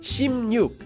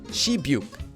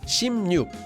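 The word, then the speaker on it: 십육: 16 has actually pronounced shim nuke not she buek the reason for this is because this word originally comes from Chinese and it has to do with sound change rules but for now just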